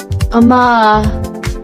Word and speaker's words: amae: The first word is amae, pronounced ah-mah.